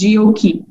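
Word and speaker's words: GOQii: founder and ceo of gokey pronounced jioki mr gondolas the founder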